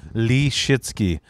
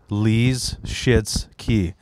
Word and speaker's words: Michalski: When I had to explain to people how to pronounce it, I go Lee Shitsky. So imagine Bruce Lee is locked out of the bathroom and he's got diarrhea. Lee's shits key.